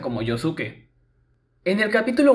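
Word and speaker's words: Josuke: El nombre del protagonista es pronunciado como Yosuke, sin la U. Sin embargo, en otras versiones como la versión en castellano sí se pronuncia como Yosuke.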